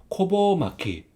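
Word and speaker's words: ごぼう巻き: 그다음에 이거 뒤에는 세네 마키 마리라고 했죠 그래서 코보 마키 코보 막기 하면 우엉 마리입니다 네이티브 발음으로 세 번 따라 주세요 고마귀 고마귀 고마귀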